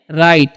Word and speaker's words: write: WRITE, तो इसे हम लोग पढ़ते हैं राइट। यहाँ पर डब्लू का उच्चारण नहीं करना है, राइट पढ़ना है।